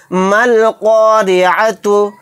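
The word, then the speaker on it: الْقَارِعَةُ: तो यहाँ पर भी देखिए अलिफ को साइलेंट कर देंगे, क्योंकि अलिफ और लाम के बाद क़ाफ आ गया। क़ाफ हुरूफ क़मरी के 14 हरूफ में से एक हर्फ है।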